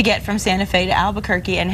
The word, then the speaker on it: Albuquerque: Kudos to Elias for that awesome pronunciation, that Spanish pronunciation. Wasn't that good? Albuquerque.